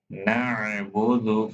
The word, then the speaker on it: نعبد: Don't forget to pronounce Ain. نعبد from middle part of the throat.